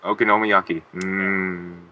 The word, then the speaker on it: okonomiyaki: how do you say it okono okaki yeahok okonomiyaki what he said stuff's Good Guys stuff's good